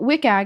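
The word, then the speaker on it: WCAG: The first is wikag. First of all, there are a lot of acronyms How do you pronounce it in regards to or is that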